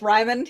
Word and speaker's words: Rimon: Yeah, but if you're, you know, you might you might pronounce it the English way, and it's Rimon, you know, like Simon, only with an R.